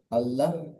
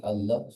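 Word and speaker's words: الله: ল উচ্চারণ হবে আর কখন আল্লাহু শব্দের এই লামটি লা উচ্চারণ হবে অর্থাৎ কি কি কারণে আল্লাহ শব্দের লামটি পুর হবে আর কি কি কারণে আল্লাহ শব্দের লামটি বারিক হবে।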